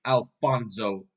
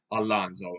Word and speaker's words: Alonso: some online research yeah it's literally Alonso a l f o n o s Alonso not Alonzo even though the book says Alonzo so it's Alonso not Alonso let me let me spell